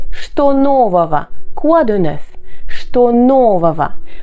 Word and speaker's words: что нового: Что нового? Attention à la terminaison ого qui ne se prononce pas de cette manière-là.